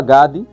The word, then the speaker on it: Gad: Gênesis, capítulo 49, versículo 19, diz assim: "Quanto a Gade, uma tropa o acometerá, mas ele a acometerá por fim". Olha só, então estamos a ver que Gade, né? Gad, assim que se pronuncia, ele representa um caráter de guerreiro perseverante.